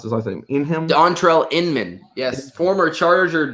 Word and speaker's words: Dontrelle Inman: throw there too I don't know how you pronounce this I think Dontrelle Inman yes former charger Dontrelle Inman finding a role on the Colts as like